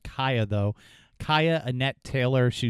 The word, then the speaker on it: Cieha: It's pronounced Cieha, though.